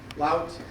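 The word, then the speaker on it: Louth: Lout.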